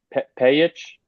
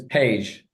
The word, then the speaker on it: Paige: side uh Lopez and I hope I pronounced her name right P pich um she just it's Paige Paige simple I mean you would